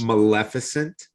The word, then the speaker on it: Maleficent: which is the uh mallet i can never pronounce it magnificent maleficent inhabitants maleficent yes that right same as the movie right